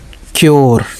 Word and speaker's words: cure: जैसे देखिए CURE क्योर ना, सी को का पढ़ रहे हैं, देखिए क्योर, ठीक है। URE तो योर, ठीक।